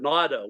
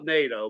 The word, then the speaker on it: NATO: big hand in that you call it natto we call NATO but we uh oh yeah just that's all right the German German pronunciation is Nat Nat Nat has been